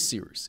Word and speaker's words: Cyrus: My name is Seeroos. It's spelled like Cyrus, pronounced like Seerooster. Just take out the tur.